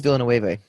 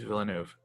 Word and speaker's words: Villeneuve: I'm trying to figure out how you pronounce Villeneuve. I thought it was Villeneuve. It's not. It's Villeneuve. Villeneuve, really?